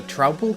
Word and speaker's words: Troupple: You've never heard of the Troupple King? Half trout and half apple, pronounced like mouthful.